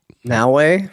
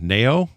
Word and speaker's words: Naoe: How you pronounce her name? Shoot. Naue? No, it's not. Is that it? Wait, who are you talking The about? girl. The girl's Naoe? I thought it was You're right, it's Naoe, but it's spelled Naoe. It's just a weird spelling.